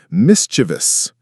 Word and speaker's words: mischievous: The common mistake is stressing the second syllable, but the correct pronunciation is mischievous. The stress is on the first syllable, and it has 3 syllables, not 4.